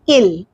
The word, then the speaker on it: ils: We don't pronounce s here, we say il.